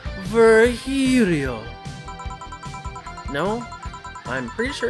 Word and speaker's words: Virgilio: It is pronounced Virgilio. No, I'm pretty sure it's Virgilio.